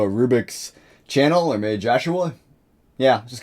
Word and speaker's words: Jhahoua: jus a rubix and now he's changed it to Joshua or Joshua that's how you pronounce it anyway regardless of the